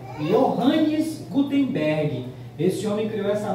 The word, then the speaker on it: Johannes: Só que quando chegou esse homem aí, aí tá com J, né? Mas é um alemão, né? Então, mas eles pronunciam I, né? Johannes Gutenberg.